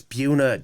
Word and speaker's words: Buena: football um home versus Buena Vista seven that one's gonna be a great game I hope the whole town shows up you just said Buena again that's how it's spelled it's Buna dang it and then volleyball